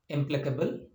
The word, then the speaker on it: implacable: And coming to the syllable, the stress on this word is on PLAC. PLAC is a preceding syllable.